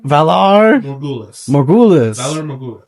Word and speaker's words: Valar Morghulis: It's in the interesting pronunciations and emphasis and all of it. It's so fun. Valar Morghulis.